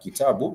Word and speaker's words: kitabu: And therefore, the word kitabu, it has 3 vowels. Kitabu, ki-ta-bu. It has 3 vowels.